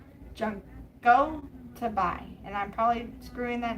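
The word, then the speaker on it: Junko Tabei: And the answer is Junko Toby. Junko Tobi.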